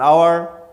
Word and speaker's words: hour: umbrella like this an hour so in here an hour hour start with H but H is silent so we start pronounced